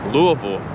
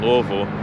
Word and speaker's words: Louisville: Louisville is how it's pronounced if you live here in Louisville. Some people say Louisville. I think Louisville might be closer to the actual pronunciation because Louisville was founded,